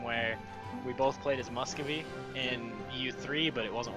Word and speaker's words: Muscovy: I'm trying to improve my relationships with Muscovy right now, though. Muscowy. It's V. There's a V in it now.